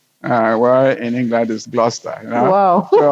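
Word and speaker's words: Gloucester: So even the way we pronounced things, you know, the locals pronounce them differently. We would say Glchester where in England is Glustester, you know.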